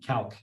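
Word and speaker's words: Calque: Calc is spelled C-A-L-Q-U-E, Calc. It's a French spelling of the word.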